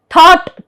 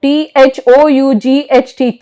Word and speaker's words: thought: So, we don't, because it is following the vowel sound, we are not, yes, we are not pronouncing the G. Night, N-I-G-H-T, night. Thought, T-H-O-U-G-H-T, thought.